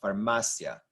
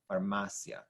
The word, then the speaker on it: farmacia: here e and uh blend together to make Sia you know farmacia farmacia second to last syllable stressed on the m a now when you have